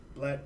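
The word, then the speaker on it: 6LACK: But just in case people don't know who Black is, who's Black?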